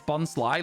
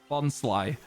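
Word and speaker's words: Bonsly: one I've ever heard it's Bon Sly like Sly let's go we got it right Bon Sly let's go let's go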